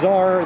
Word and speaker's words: Cesar: He told me it's like Caesar, but pronounced Cesar the Dominican way because he was Dominican.